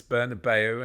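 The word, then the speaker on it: Bernabéu: Mark says the British just refuse to pronounce things properly. Bernabeu, Nou Camp, Antoine Griezmann. It's Bernabeu, and I did it in the last letter that I did.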